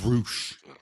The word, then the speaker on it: Rush: Spelled Rush, but it's Roosh. Roosh. I mean, you know. I don't fuck with Roosh, bro.